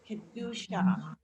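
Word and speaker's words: קדושה: Kedusha. Okay, and as you notice in Hebrew, a lot of the words are pronounced emphasis on the last syllable.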